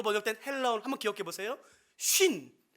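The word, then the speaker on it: σύν: 쉰. 그러니까 발음이 똑같아요. 50을 의미하는 한국 단어와 똑같습니다. 쉰이에요.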